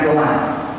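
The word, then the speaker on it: Erdoğan: Sal Sal Salim Sal Kemarin saya ketemu erdoman bacanya Erdogan jangan ngak nih Erdogan itu esdoger itu Presiden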